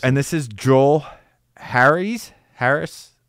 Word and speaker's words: Harris: really really impressive and this is Joel Harry's Harris it's Harry's on here it's spelled h a r r i s so